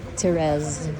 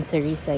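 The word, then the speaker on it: Thérèse: Ginawa ako ng Terez. That's the pronunciation of my name pero hindi theresa. It's a French word French name and it's pronounced in French as TZ.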